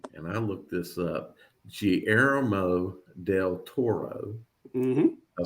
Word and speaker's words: Guillermo del Toro: And I looked this up, Guillermo del Toro.